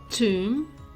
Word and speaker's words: tomb: to a silent k b is also silent before T and also after M for example doubt tomb lamb or comb the letter W gets